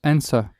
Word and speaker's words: answer: Et ben le W ne se prononce pas. Donc, An answer. et le R non plus, donc du coup ça fait plutôt answer.